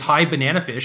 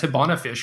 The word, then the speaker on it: High Banana Fish: Dude, you could have just told me her screen name was High Banana Fish. I didn't realize that. I just like skipped out of a syllable. I've read it as Hibana Fish for like, I don't know, a year or whatever.